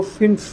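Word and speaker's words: fünf: Five को फिन बोला जाता है।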